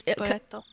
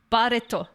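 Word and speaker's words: バレット: It's Barreto. Barreto. And Barreto. that's how you'd say bullet in like phonetically.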